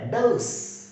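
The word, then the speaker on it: dose: इस तरह की कंडीशन आपके सामने आ जाएगा, देखना, हाउ, है, औ, मैं, ठीक है, दे, औ, से, डोस, डोस, खुराक, डोस, खुराक, दे, औ, से, डोस।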